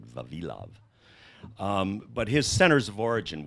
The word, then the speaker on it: Vavilov: My Russian friends pronounce it Vavilov.